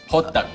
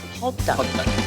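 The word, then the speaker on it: 호떡: How do you pronounce it? Hoduk? Hoduk. Hoduk.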